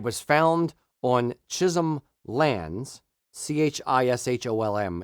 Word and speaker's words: Chisholm: found on Chisholm lands c-h-i-s-h-o-l-m is how you spell it how you pronounce it it's Chisholm um Chisholm lands in Scotland